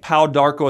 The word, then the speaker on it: Pau d'Arco: Now you can take Pau Darko as a supplement, but I recommend it in a tea form, drinking 3 glasses of Pau Darko tea a day.